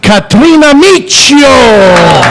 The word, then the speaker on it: Kathrina Miccio: And our in-studio special guest host, none other than the lovely Kathrina Miccio.